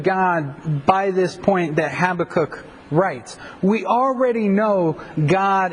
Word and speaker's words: Habakkuk: ways and in fact I tend to pronounce it two different ways and so as we go through this book half the time I'll probably call it Habakkuk and the other part I'll probably call it Habakkuk I've heard it pronounced several other ways I'm not exactly 100% on the pronunciation of it but here we go